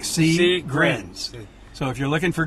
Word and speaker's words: Seegrins: us we know crrs s e e g r i ns like C grins so if you're looking